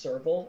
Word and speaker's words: serval: It's pronounced serval, and it's a cat.